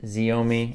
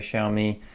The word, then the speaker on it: Xiaomi: this one the Xiaomi I originally pronounced it zo me incorrect sorry show me a lot of vowels in that one the Xiaomi Wi-Fi extender